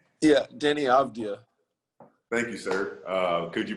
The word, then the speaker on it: Deni Avdija: Deni Avdija, is that the correct way to say his name? Yeah, Deni Avdija.